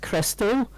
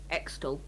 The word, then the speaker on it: Xtal: And I think it's pronounced Crystal, but it's spelled XTAL. Okay. Extal.